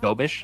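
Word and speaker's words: Dobeš: It's I think it's like Yakov Dobish. That's how you pronounce it.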